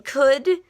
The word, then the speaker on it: could: W is silent and hood in could you do not hear the O and you don't really hear much of the L either it's more of a good sound this is the one